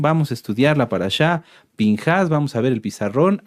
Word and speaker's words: Pinjas: Se puede leer, ahorita se los voy a mostrar, como Pinejas también, pero la pronunciación en cuanto a fonética sería Pinjas.